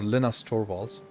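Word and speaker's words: Linus Torvalds: all of a sudden Linus torwals or Lena's torwalls as he pronounces his name uh decided that he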